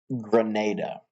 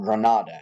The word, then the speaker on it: Granada: is going to be Grenada, or Granada, however you prefer to pronounce it.